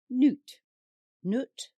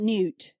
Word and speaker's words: Nut: Her name is Nu T pronounced Noot. Not new.